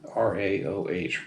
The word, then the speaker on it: Raoh: Rao Rao Nissan Rao r-a-o-h Rao I think is how that's pronounced king of ramen this